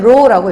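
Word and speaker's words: ρ: 그리고 읽을 땐 row라고 읽죠. 그쵸?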